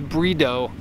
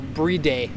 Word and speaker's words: Bride: In case you didn't know, the Japanese pronunciation is brido. Weird, hey? Or no, bride.